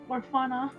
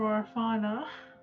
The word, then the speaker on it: Orfauna: She would vote for Orfauna. We could spell it like fauna as in like flora and fauna. True. That way it's- Orfauna. Yeah, that way it's not like orphan, just pronounced differently.